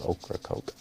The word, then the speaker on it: Ocracoke: area in north carolina okra coke spelled with a c just like it sounds ocracoke they do not serve